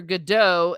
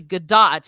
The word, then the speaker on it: Gadot: when she came and everyone was calling her godot and then and then she's like no it's actually gadot it's hebrew and so then so